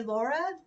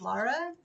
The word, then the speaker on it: Lara: lot too people don't they say Laura instead of Lara and so that's been